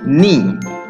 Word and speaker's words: knee: we cover k and we don't pronounce k so it's knee very good is this